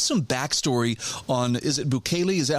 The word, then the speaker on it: Bukele: Give us some backstory on, is it Bukele? Is that how you say his name? Bukele?